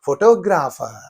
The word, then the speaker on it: photographer: But here, photographer, photographer. And similarly, photography is also there. Photography. Okay. graphy. So here also in this photography and photographer, in these two words, the second syllable receives the primary stress, whereas in the photographer,